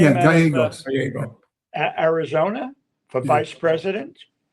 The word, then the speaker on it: Gallego: Ruben Gallegos, how do you pronounce his name? Yeah, Gallegos.